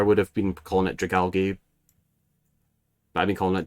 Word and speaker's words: Dragalge: Yeah, Dragalge. I like that one. That's how you're supposed to pronounce it, isn't it? Oh god. Oh no. I've been calling it I've been calling it Dragalge this whole time.